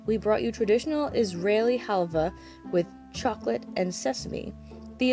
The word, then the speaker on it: halva: please please please but that's apparently pronounced halvah today I learned so